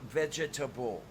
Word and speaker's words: vegetable: you um and then there is vegetable four syllables even though everybody claims it has three um you mean veggie